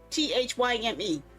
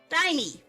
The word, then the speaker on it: thyme: Why the heck do they have an H in there if it's not supposed to make a sound? Huh? Thymy. It's based on how it's spelled, so it should be pronounced thymy. Thymy.